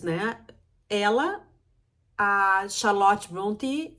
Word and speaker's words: Brontë: Eu botei para ouvir aqui no Google Tradutor, eu acho, para ouvir a pronúncia e é assim que eu digo, Emily Brontë.